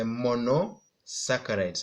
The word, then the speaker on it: monosaccharides: this ones include the monosaccharides I want you to pronounce with me mono saccharides then then we have